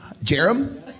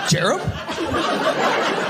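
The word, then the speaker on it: Jarom: Jarm. Jerham. No. E. Jerham. Spell it. J A R O M J A R O M.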